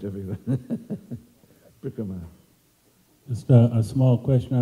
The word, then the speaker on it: parikrama: taking us on a parikram. That was so sweet. And we didn't even have to... Parikrama, whatever. It's a long A in the end, so you can't drop it.